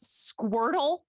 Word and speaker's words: Squirtle: a point of clarification is it squirtle or are we mispronouncing it no it's squirtle he calls him squirtle